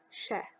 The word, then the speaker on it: Is ea: Iss Eh. Commonly pronounced Shah.